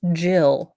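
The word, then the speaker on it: Gill: an American and uncultured this is pronounced Jill over in the UK I was wondering why her parents named her Gil but I figured maybe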